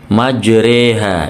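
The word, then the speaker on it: مجريها: walaiim selanjutnya halaman 19 majreha ini bacaan imalah ada di surah hud ayat 41 ya nanti keterangannya ada di YouTube saya sebelumnya lebih jelasnya ha tulisannya majroha tapi dibaca Re imalah ya memiringkan fathah kepada kasrah ada lagi surat hud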